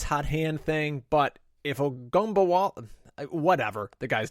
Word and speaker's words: Ogunbowale: Ogunbowale? Ogunbowale, yeah.